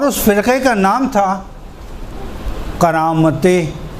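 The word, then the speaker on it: قرامطہ: فرقے کا نام تھا کرامت، قاف را الف طا اور چھوٹی ہے، کرامت. جی دوبارہ سے ہجے کروں. کرامتے قاف کاف نہیں, قاف را الف طا ہے, تے نہیں قا.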